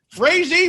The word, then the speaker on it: Frazee: Frazee rhymes with crazy.